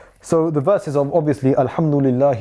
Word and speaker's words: الحمد لله: So here it is preceded by the lam with a kasra, so we would pronounce it as lillah, not lillah. So alhamdulillah.